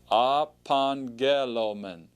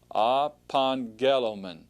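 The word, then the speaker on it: ἀπαγγέλλομεν: to remember is that when you have two gamez like that the first gamma is going to actually have the n sound the sound so upon gelo men upon Gelman ok and actually I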